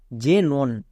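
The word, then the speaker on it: xenon: কয় দন্তস এ হলো তারপরে জেনন এখানেও দেখো শব্দের শুরুতে এক্স আছে তাই এক্স এর জন্য কি ইউজ করবো বর্গিয়ে যো তাই এক্স ই এন ও এন জেনন জেনন বিষয়টা খুব ভালো করে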